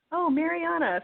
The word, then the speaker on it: Mariana: I've ever run into have an issue with the are in Spanish so right I just go with what my kindergarten teacher said when she first pronounced my name in English was ohm Ariana I'm like okay I guess that's what my name is in English that's what I go